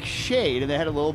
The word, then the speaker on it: Shaed: it says shade and it says pronounced like shade and they had a